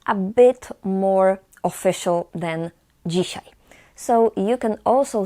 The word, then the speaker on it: dzisiaj: Today is dzisiaj. Dzisiaj. Dzisiaj. DZI we pronounce as dzi.